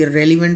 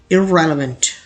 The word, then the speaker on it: irrelevant: इसे पढ़ा जाता है, लोग मिस्टेकली irrelevant पढ़ लेते हैं, लेकिन करेक्ट प्रोनाउंसिएशन कुछ इस तरह से होती है irrelevant, irrelevant। यहाँ दोनों ई जो होते हैं इनको बिल्कुल ही मध्यम पढ़ा जाता है, irrelevant।